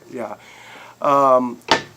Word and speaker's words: Oday: That's how I pronounce it, right? Yeah. Oday.